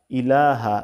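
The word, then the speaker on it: إِلَٰهَ: ইলাহা হামজা জজের ই লাম জবর লা হা জবর হা ইলাহা এখানে কিন্তু টান নাই আশহাদু আল্লা ইলাহা ইল্লাল্লাহু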